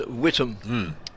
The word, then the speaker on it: Witham: It's always pronounced down our way, down south, as Witham.